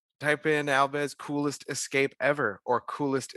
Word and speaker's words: Alves: I would suggest searching YouTube for Alves. That's with a V as in Victor, but what's pronounced as a B as in Portuguese. Type in Alves coolest escape ever or